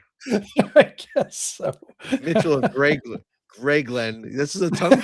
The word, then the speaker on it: Grayglen: he goes of of Grayglen. Of Grayglen. Grayglen. Can you spell that, please? g r a y Gray and then Glen g l e n Grayglen.